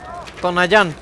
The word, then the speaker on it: Tonayán: Tonayán, con acento en la A.